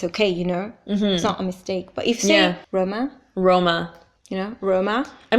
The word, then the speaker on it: Roma: translation so the Italian name is but Alma Roma yeah roma Roma are right roma Roma okay